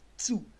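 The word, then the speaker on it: zu: ये प्रोनाउंस होता है एक्चुअली से टी और फिर यू, मतलब आपको टी प्रोनाउंस करना पड़ेगा हल्का सा, चू, चू, चू। ये जू नहीं है, ये चू है, चू।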